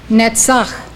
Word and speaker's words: Netzach: Netzach, triumph.